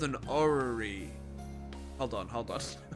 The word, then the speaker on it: orrery: It's called an orrery. Hold on. How to pronounce orrery?